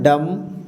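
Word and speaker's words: dumb: इसमें देख लेते हैं डी का क्या हो गया ड और एम के बाद बी यहां भी क्या हो जाएगा बी साइलेंट होगा जिस प्रकार ऊपर में हुआ था है ना तो क्या हो गया डम इसी तरह से यहां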